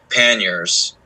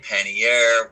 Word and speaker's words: pannier: carry waterproof bags called panniers. It's a French word. People all pronounce it however they want. But Word of the day, kids. right. Yeah, I've heard pannier, pannier.